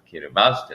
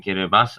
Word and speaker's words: Kiribati: The ”k” in Kiribati is pronounced near the back of the throat.